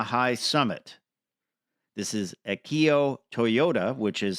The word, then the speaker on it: Toyoda: This is Akio Toyoda, which is spelled Toyoda, the actual spelling of the name.